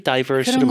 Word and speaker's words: diverse: Diverse도 이게 diverse라고 읽기도 하고 diverse라고 읽기도 하죠. 네. What do you prefer? I say diverse. Diverse. 약간 미국이 diverse로 많이 하는 것 같고 영국이 diverse로 많이 하는 것 같은데 근데 실제 두 발음이 공존한다고 봐야 되죠.